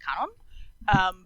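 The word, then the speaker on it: Kwannon: mercy, and the that Quanon is like an anglicized version, but that the W is actually not pronounced and that it should be pronounced Kanon.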